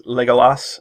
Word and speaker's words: Legolas: tactics bolus sorry bolus that's how I read the goalless before I know how to pronounce his name when I read the books but it's Legolas and then how dear